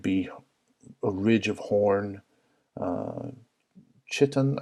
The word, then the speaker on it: chitin: a ridge of horn, chitin, I believe it's pronounced chitin or chitin, which is a horn-like material, or keratin, which is what horn is made out of, I believe.